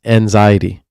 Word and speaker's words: Vanxiety: Oh, it's anxiety. Oh, anxiety. I would have never known. I'm pronouncing the V.